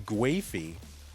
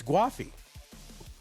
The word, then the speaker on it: Gwafey: So those of you who are still saying Gwafey, it's Gwafey. Now, I don't know how that really fits into kind of English, whether it really should be given how it's spelled, but listen, people got to decide how their names sound, okay?